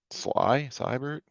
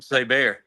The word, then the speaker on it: Seibert: You're right, Seibert. dude. Yeah, Austin that guy. Seibert. There you Yeah, go. that guy. I was calling him Say Bear.